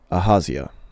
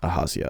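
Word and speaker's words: Ahaziah: Aazia. Ahazia actually is probably how that's better pronounced.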